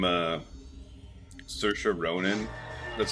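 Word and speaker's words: Saoirse: you ever look at the name uh sersha Ronin that's how she pronounces it sersha it's like spelled like SE Oris or something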